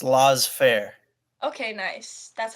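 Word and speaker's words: laissez-faire: like you really know I think it's pronounced law fair okay nice that's how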